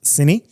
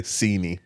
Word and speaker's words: Cine: And um, a lot of people have asked how to pronounce it cuz it's c i n e, but it's ciney. I definitely was going to say sini. Yeah. Yeah. Or sine.